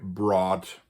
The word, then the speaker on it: brought: and CH connection here in English we don't pronounce it anymore uh probably would have been pronounced the Middle English more like but we don't pronounce that anymore unfortunately I would have